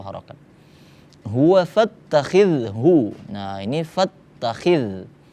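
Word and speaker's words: فَاتَّخِذْهُ: Huwa fattakhidhu, nah ini fattakhidh, huruf zal, pengucapannya jangan sampai jadi ketebalan. Fattakhiz, jangan, itu huruf za, tipis, za, fattakhidhu, hanya ha tebal, bukan ha.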